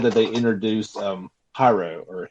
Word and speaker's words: Haru: and they definitely said that they introduced um hyro or huru how do you say her name Haru um yeah like she's in there you can